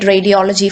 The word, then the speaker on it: radiology: So look at radiology for instance. Radiology. So third syllable 1, 2, 3. So ഇവിടെ ആയിരിക്കും stress വരുന്നത്.